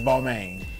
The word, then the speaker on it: Balmain: just for for clarity the correct pronunciation of the house name is baltimore i like to say beaumont um i'm a fashion person and if you look up the pronunciation now of all but for the rappers the regulars so we are the house of bar maine it's balmain yeah the kind of common phrase or pronunciation is balmain we have bomb ons